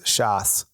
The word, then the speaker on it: chasse: and in French, the word for hunting is chasse, and it's spelled CHASSE, chasse.